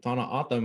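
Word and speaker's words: Tohono O'odham: And to speak to your point about your community, traditional pronunciation, Tana Atam, my people, Tana translates to desert, and Atam translates to people.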